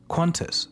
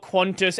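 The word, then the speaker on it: Qantas: The you mean it's spelled quantis and you read a u that's not there.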